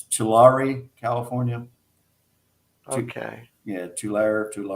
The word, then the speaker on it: Tulare: Or maybe she lives in it's and pronunciation I'm not. It's Tulare, California.